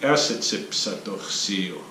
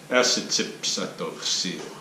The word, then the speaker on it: Niitsi'powahsin: That O at the end is kind of, it's spelled in the orthography, the current kind of a standard orthography, it's spelled like a W-A. But you don't hear it pronounced so much like wa, right? So Niitsi'powahsin.